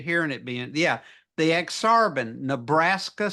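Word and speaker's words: Ak-Sar-Ben: Nebraska to Chicago the aaran aaran nebras that's ex sarban the and that is I see not that is how it's pronounced I I'm so I'm not used to hearing it being yeah the ex arban Nebraska spell backward that's okay go ahead that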